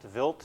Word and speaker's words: Wild: from this comet called Vilt 2. Uh I know it looks like it's spelled wild but it's pronounced Vilt.